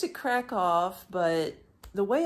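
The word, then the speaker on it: Kraków: American English I say crack Al because they spell it k r a k w but the locals call crack off like with an F or a V at the end I'm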